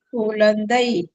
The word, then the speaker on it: குழந்தை: கு ல இந்தை குழந்தை. குழந்தை ழா ழா குழந்தை. இந்த அன்னத்தை வந்து உரசி கொண்டு போவோம்.